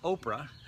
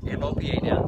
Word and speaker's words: OPA: you an acronym and the acronym is pronounced Opa not OA which is close Opa